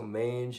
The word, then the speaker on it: mange: So mange is the equivalent of that.